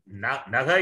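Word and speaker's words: नः: It is Diyo Yo Naha only. How can you drop the Visarga? Correct. Naha is different, Na is different. Here it is Naha, Asmakam, Naf Prachodayat. Many people are pronouncing it wrongly.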